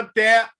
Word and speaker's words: até: Até é uma palavra oxítona. Até, separa a sílaba. Eu uso muito quando eu dou aula, né, de acentuação, eu uso muito essa palavra, porque as pessoas acham que tem uma sílaba só. E não é, são duas. Até. Eu tenho duas vogais, duas sílabas.